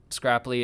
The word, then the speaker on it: Scrapli: so that's one of the biggest things about scrapply is it it kind of um that's its